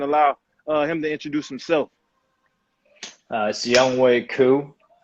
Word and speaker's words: Younghoe Koo: it's Younghoe Koo. It's spelled Younghoe, but it's pronounced Younghoe.